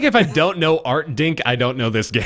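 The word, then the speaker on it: Artdink: heard of them what art say it again spell it art a r t d i n k art dink art dink uh published by Art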